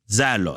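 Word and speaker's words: ζῆλος: biiblees par les jalousies c'est le mot Zelos normalement zalos c'est ça la bonne prononciation qui signifie agitation de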